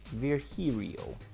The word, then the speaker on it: Virgilio: until now we meet again bartender look winded virgilio pronounced virgirio no I'm pretty sure it's virgilio you said as much the last time you